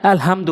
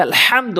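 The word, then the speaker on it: الحمد: দেখুন আপনি সূরা ফাতিহার ওখানে আলহামদু বলেন, নামাজ হবে না তো, নামাজ হবে না, বলতে হবে আলহামদু, ওখানে বড় হায় নিয়ে উচ্চারণ করতে হবে।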